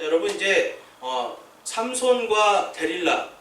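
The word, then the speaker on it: דלילה: 실제로 히브리어에 가보니까 데릴라가 맞더라고요. 네, 그래서 이 삼손과 데릴라 하는데 이제 데릴라라는 말이 히브리어로는 더 맞는 말이다. 그래서 이제 영어로는 뭐 델라일라 뭐 해가지고 되게 또 힘든 발음을 하던데, 어쨌든 들릴라, 데릴라 다 같은 말입니다.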